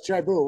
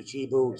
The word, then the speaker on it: Chibu: coming up ch ch it's Chou right it's Chi Chi thank you chibo sorry about that me